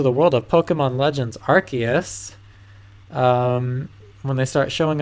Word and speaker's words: Arceus: thought archus was pronounced arus until this trailer where everyone and their mom pronounced it archus so looks like that's it it makes sense cuz it has an arc on it whatever um but yeah